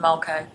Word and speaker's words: Mulcahy: second Mulcahy and not Devon. Not Devon. Just to correct, the correct pronunciation is Mulcahy.